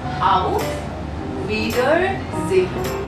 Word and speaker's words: Auf Wiedersehen: The pronunciation is Auf Wiedersehen.